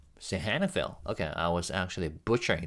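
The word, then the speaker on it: Sihanoukville: do I properly pronounce this um sorry pronunciation sahanicville oh sorry all right one more time sahanville okay I was actually butchering the pronunciation sorry about Sahanicville.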